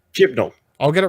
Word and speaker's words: Chibnall: Do you say Chibol? I suppose that's how you say it, right? We better get this right for the future. There's an N. Okay. Chimlo. Okay. Chibnall.